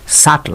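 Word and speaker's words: subtle: আলাদা আপনারা জানেন এর উচ্চারণ ওয়েডনেসডে না এর উচ্চারণ হচ্ছে ওয়েনসডে ওয়েনসডে মানে কি বুধবার বুধবার সাটল এটাও কিন্তু আরেকটি সান শব্দ এখানে বি এর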